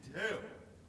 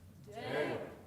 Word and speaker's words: Deo: And so I think what I wouldn't want is Deo dicamos, because that's the emphasis on the wrong syllable, right? Say Deo. Deo.